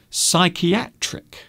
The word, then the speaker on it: psychiatric: So these all have strange silent letters. And because they have silent letters, people will often spell these words incorrectly. So we have psychiatrist, psychiatrist, psychologist, psychiatric, physiotherapist.